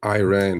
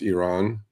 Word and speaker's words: Iran: I mean, you know, look, I do understand Americans pronouncing Iran because it's that I, right? Okay. Uh but truthfully, it's Iran and truthfully it's Iraq.